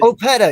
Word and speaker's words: Opeta: Opeta, yes, thank you.